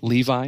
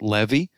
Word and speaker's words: Levi: just for instance like the tribe of levi isn't really pronounced levi it's pronounced levy uh and the the